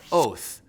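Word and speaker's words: אות: It's pronounced oath.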